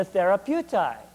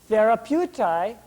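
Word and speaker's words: Therapeutae: ases were called the therapeuti therapeuti well what's it sound like it sounds like the word therapy therapist and therapeuti indeed does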